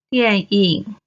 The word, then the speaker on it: 電影: 电脑电脑 Finally, the last one, the movie, 电影 Sam, 电 is the fourth tone. 影 is the third tone. 电影电影 Alright, we finished this series of 注音 pronunciation explanations and exercises.